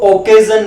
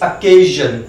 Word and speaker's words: occasion: इसको ओकेजन नहीं बोलते, इट इज अकेजन, अकेजन, अकेजन, अकेजन, इट is sounded अकेजन, ऐसे स्टार्ट होगा नॉट ओ, इट इज अकेजन, अकेजन।